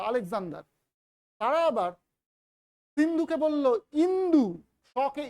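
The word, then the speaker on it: Indus: গ্রিকরা Macedonian গ্রিকরা Alexander তারা আবার সিন্ধুকে বলল ইন্দু সকে ই উচ্চারণ করল ইন্দু একজন জন উচ্চারণ করল সিন্ধুকে হিন্দু আরেকজন উচ্চারণ করল ইন্দু ইন্দু থেকে হল ইন্দুস আই এনডি ইউ S actual উচ্চারণটা হচ্ছে কিন্তু ইন্দুস সেখান থেকে ইন্দই সেখান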